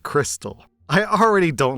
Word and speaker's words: KRXSTXL: together it's quick confused the name is pronounced Crystal I already don't like